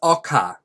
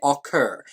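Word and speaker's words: ocker: mentions a word and the word is Oka that's how we say in Australia in America you might say occur it is spelled o-c-k-e-r now in this book Kate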